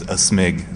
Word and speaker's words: aSmig: guest is sanity bit you could also say my name is a smig sort of like you're sneezing you know okay a snake that